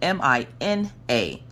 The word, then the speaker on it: Mina: her name is spelled m-i-n-a but you pronounce it mina uh kind of like the fish minnow but with an uh because i remember the